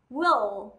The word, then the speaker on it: will: Với từ này rất nhiều bạn hay đọc là win đúng không nào? Nhưng chúng ta sẽ không đọc là win bởi vì đây là âm L. Đầu lưỡi chạm chân răng trong hàm trên.